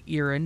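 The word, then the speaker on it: Irin: connection of the stories love the use of ears or iron however you wish to uh pronounce that i believe it's actually iren in the proper vernacular which is aramaic uh iren are actually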